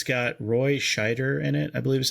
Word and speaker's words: Scheider: And it's got Roy Scheider in it, I believe is how you pronounce his name.